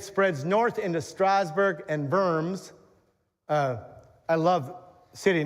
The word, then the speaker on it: Worms: there as it spreads north into Strawburg and Verms. Uh, I love city names. Uh, in in German, the W is pronounced with a B. So, you've seen this diet of worms.